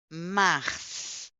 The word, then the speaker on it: mars: janvier février février février mars mars mar mars là on va prononcer les s oui mars mar Mars